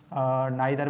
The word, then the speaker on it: neither: नाइदर में हम उसमें नीदर भी इसको पढ़ते हैं, तो सबसे पहले इसको ये देख लेते हैं। नीदर भी इसको पढ़ते हैं हम, नाइदर भी पढ़ते हैं, जो भी मतलब दोनों प्रोनाउंसिएशन ठीक हैं, जो आपको आसान लगे